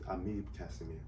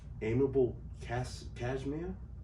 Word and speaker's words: Amib Casimir: The Creole pronunciation is Amib Casimir. But when I put it out there, some people was like, amiable cashmere, and some people was like, Amibel Casimir.